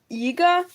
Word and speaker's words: Iga: Why you say my name Yiga when it's Iga, not Iga? Yiga? Okay, I think mispronounced. You're probably hearing it as Yiga. I'm saying Iga. It's probably just that Yi and E are similar sounds.